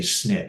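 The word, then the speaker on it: SNP: by the way okay the proper way to say that is a snip single nucleotype polymorphism which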